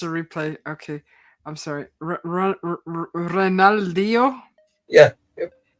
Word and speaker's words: Ronaldinho: Ronaldinho? Yeah. Yep. You said it right. That's good. Ronaldinho. It's Portuguese, though.